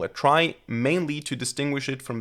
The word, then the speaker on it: trie: r i e and it actually comes from the word retrieval which means that the original correct pronunciation would be tree now why do we call it try mainly to distinguish it